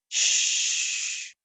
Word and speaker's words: chut: En français, il se prononce comme les sons que l'on fait quand on veut faire taire quelqu'un. Chut.